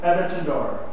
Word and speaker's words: Aventador: Aventador. I almost said it. You tried. Your turn. I'm not. I've said it right, but I didn't. I'm going to try, although it helps Aventador. me see it. Aventador.